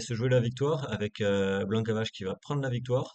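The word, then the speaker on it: Blanka Vas: Mais apparemment, Blanca Vache, parce qu'il faut prononcer comme ça, a fait la descente et a pu revenir.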